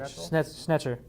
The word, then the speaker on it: Schnetzer: Schnetzer.